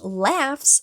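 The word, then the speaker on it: laughs: Mas nem sempre vai ser assim, porque em lefts, o GH tem som de F, tá bom?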